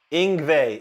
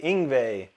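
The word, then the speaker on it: Yngwie: Boquet Samuel says, "How do you pronounce Ingve?" ing Ingve. Ingve.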